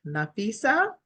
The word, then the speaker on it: Nafisa: Is it Nafisa? Am I pronouncing that correctly? Yes, Miss Artis.